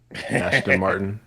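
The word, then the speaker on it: Aston Martin: Ashton Martin. You say Ashton, like ASH? Oh, man, I might be saying it wrong.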